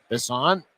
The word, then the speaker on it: Bisson: Adrien Bisson. Bison wearing number eight. At least that's what the pronunciation guide says.